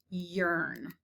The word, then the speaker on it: yearn: sort is the word yearn i yearn for summer days e-a-r yearn now the rest of